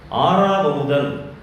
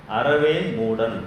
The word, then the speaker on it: ஆறாவமுதன்: ஆறாவமுதன் அப்படின்றது ஒரு பேர், ஆறாவமுதன். இதை இங்கிலீஷில் ARAVAMUDAN. அதை ஒருத்தர் வாசிக்கிறாரு, அறவே மூடன் அப்படின்னு வாசிக்கிறார்.